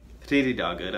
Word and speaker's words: Þriðjudagur: Þriðjudagur.